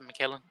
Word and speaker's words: McKellen: wolverine slash logan um ian mckellen as magneto they pronounce it michaelan uh frank jensen as